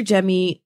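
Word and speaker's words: Jaime: So if you're on any of those apps, please follow me as Producer Jemmy, remember that is spelled J-A-I-M-E.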